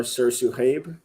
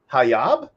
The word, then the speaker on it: sirsuhayb: So Sursu or Sursu Habe is just the longer version. Habe. Okay. Yes. I was like Hayab, Habe.